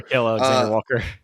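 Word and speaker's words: Nickeil Alexander-Walker: Nickeil Alexander Walker.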